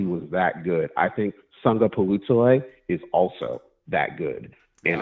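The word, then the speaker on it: Sagapolutele: So the first syllable is actually pronounced Sunga, like you sung a song. So it's Sunga Palutale. So after that first syllable, it's phonetic. Palutale. Sunga Palutale.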